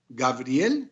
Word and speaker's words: Gabriel: Ya entrando en nuestro tema de onomástica, pues son Miguel o Mijael en hebreo, Gabriel, que se pronuncian de igual manera en español y en hebreo, Uriel, de igual suerte, y Rafael.